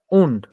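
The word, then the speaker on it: und: Wind x উইন, জেক্স, wind না, উন্ড। উন্ড sorry উন্ড sorry, উন্ড জি, shortcut উন্ড।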